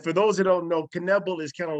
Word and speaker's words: Knebl: to find and for those who don't know caneble is kind of like it's spelled similar to conniff okay exactly it's five letters could I please buy another vowel k-n-e-b-l knevel yes you're correct I'm easily findable type my